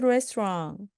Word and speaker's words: restaurant: 그래서 식당은 restaurant이었죠. T 발음하지 않으시고요.